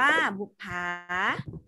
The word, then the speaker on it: บุปผา: คะ อ่ะ ต่อ ไป บุปผา อ่าน ว่า บุปผา ลูก ค้า หา ต่อ